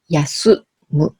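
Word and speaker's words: 休む: En kunyomi, on lit comme yasu mu. Yasu, c'est cette kanji et mu, c'est la okurigana, donc ça s'écrit en hiragana. Donc yasumu, en japonais, ça veut dire se reposer.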